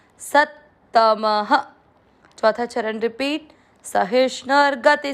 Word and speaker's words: सत्तमः: त म में अ की मात्रा, इसलिए विसर्ग को पढ़ेंगे ह, सत्तमः।